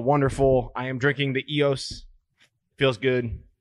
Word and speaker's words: Eos: No, it's EOS. It is pronounced EOS.